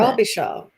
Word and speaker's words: Robichaud: Akkadian French name, Robichaud. Oh, I love it. Robichaud. There it is. That's how you say it.